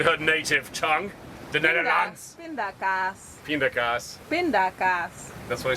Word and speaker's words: pindakaas: Pindakaas. Pindakaas. Yeah. Pindakaas. Did I say it right? Pindakaas. Pindakaas.